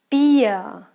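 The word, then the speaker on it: Bier: ah I love be beer beer when you have the combination I II it's a long e sound yeah so beer beer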